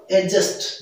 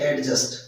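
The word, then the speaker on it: adjust: इसी तरह ये होगा एडजस्ट नॉट एडजस्ट, और इसी तरह ये होगा एडजोर्न नॉट एडजोर्न।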